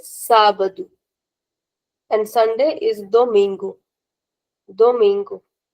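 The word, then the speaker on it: sábado: Sabadu Sabadu. Why Sabadu? Because there's an accent on a on the first R. So we have to take care of the accent. We say Sabadu and Sunday is Domingo.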